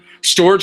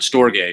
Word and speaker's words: storge: it longer than that storage is a Greek word storge is the way you really pronounce it it's a Greek word um and it refers